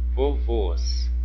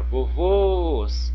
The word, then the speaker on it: vovôs: Do outro lado aqui nós temos, ó, vovôs, vovôs, vovôs. Olha, vovôs, eu tenho uma palavrinha que tem 2 sílabas, vovôs. Então, nesse caso aqui, qual que é a mais forte? Vovôs, a última sílaba.